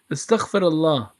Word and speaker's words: Astaghfirullah: Astaghfirullah.